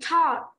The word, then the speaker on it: Todd: Tên bạn này là Todd, đọc là Todd nhé.